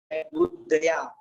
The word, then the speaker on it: बुद्ध्या: सबसे पहले लिखा हुआ है इसमें बुद्धया, बुद्ध दया, इसमें या पूरा बना हुआ है बुद्धया, और धा पूरा बना हुआ है, धा आता है इसके ऊपर इसमें बुद्धया, बुद्ध दया।